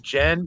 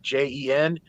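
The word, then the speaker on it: jinn: you're saying the girl like a girl's name jen like j-e-n it's pronounced jen that's how you say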